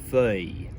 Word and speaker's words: feuille: unpack now, and that's the vowel sound. In the Spanish hoja, the O sound has been lifted directly from the O sound in folium, but in French it's changed, it's become an sort of sound, feuille.